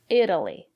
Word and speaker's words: Italy: look at these examples Italy Italian Italy the syllable after the letter T is not stressed will pronounce the letter t as a fast de Italy I've never been to